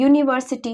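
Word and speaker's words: university: क्योंकि हम जब यूनिवर्सिटी को प्रोनाउंस कर रहे हैं। यून यूनिवर्सिटी को पढ़ रहे हैं तो किसकी साउंड आ रही है? यूनिवर्सिटी यानी कि य। य क्या हो गया? व्यंजन हो गया।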